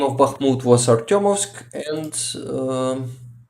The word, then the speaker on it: Bakhmut: But yes, Bakhmut, actually, the right way to say it is Bakhmut, not Bakhmut.